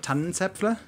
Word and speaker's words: Tannenzäpfle: Can you say the full name of Rothaus Pils in correct pronunciation for us? You mean the Tannenzäpfle?